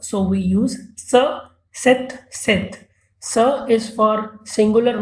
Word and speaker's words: cet: So we use sa, set, set.